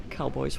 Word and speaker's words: cow-boys: And guys, this is the only region in France where we have cowboys. I shouldn't say guys because we have ladies too. Ladies and gentlemen. You should pronounce it cowboy. Les cow-boys.